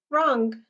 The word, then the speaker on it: wrong: Wrong. Wrong. Which one did I say? This one. この W は silent. This W is silent, right?